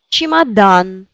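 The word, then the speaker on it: чемодан: Chimadan. Chimadan. Valise. Oui. Chimadan. Aist, c'est vraiment A qui est accentué. Daroga. O accentué. Chimadan. A accentué.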